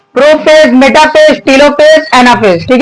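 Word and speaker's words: telophase: चार नंबर होरहा आपका टेलो फेस ठीक है आइए टेला फेस बोलते टेलो नहीं बोलते हैं spelling T इ एल ए प एच ए एस ठीक है ना लो नहीं होता ला होता है ठीक है ला फस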